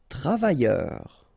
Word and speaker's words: travailleur: Travailleur. Okay, remember double L, y, and then E-U-R, heure.